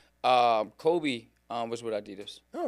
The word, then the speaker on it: Adidas: Oidos. Yeah, yeah. So, Adidas. No, Adidas has been cool. Um because especially that at that one time, one time frame where um Kobe um was with Adidas.